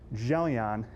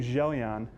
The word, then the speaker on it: Gelon: I had to look up how to say this because I didn't know if it was Gelon or Gelon. If you look back at the Greek, it is a gamma followed by an epsilon, so it should make a j sound.